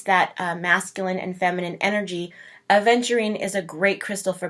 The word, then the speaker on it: aventurine: So it's not adventurine. I know a lot of people pronounce it that way, but it's aventurine.